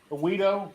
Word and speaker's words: Weedo: So Weedo is WEEDO is how it's pronounced.